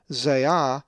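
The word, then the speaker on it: ζειά: If you said zeah, you are correct, as the accent is over the alpha, zeah.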